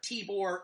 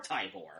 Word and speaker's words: Tibor: I'm pronouncing that correctly I did look up the pronunciation apparently you can say either Tibor or tybor ah I prefer tea